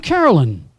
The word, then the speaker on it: Carolyn: Whenever she met someone new, she'd say, "I'm Carolyn. It rhymes with sin, gin, and jasmine. Take your pick."